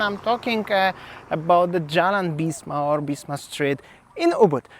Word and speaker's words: Bisma: Bisma, this is how you pronounce this, and the street overall looks like this one.